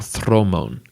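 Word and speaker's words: dromon: be made up of droman Warships as they're spelled or thron as they would be pronounced in Greek these ships were to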